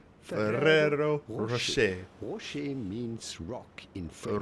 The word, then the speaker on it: Ferrero Rocher: So in English or American, you would normally pronounce it Ferrero Rocher. Ferrero Rocher. But if you wanted to combine the Italian with French to say these with the pronunciation here we of go. the respective country of origin, you would have to say Ferrero Rocher.